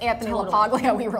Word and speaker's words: LaPaglia: And by the way, I don't think we pronounce his name correctly. Isn't it LaPaglia? No, but it's Italian, it's like LaPaglia.